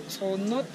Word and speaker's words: onot: En realidad, en maya, en lengua maya, la palabra cenote se dice onot, pero los españoles no tenían el acento para pronunciarlo y le cambiaron de cenot a cenot y de cenot a cenote.